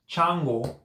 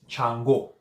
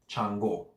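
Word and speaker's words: Changó: do you pronounce that the emphasis the accent mark is on the oh it's not changwu its Chango stretch the the last oh not the first a Chango not django django the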